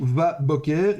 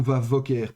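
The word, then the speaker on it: וָבֹקֶר: Donc en l'occurrence, on prononcera où va Boker et pas où va Voker par exemple pour la cette raisonci que ce Dagèch-ci est un Dagèch fort.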